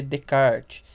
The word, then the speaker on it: Descartes: Se escreve Descartes, né, em português, mas se lê Descartes.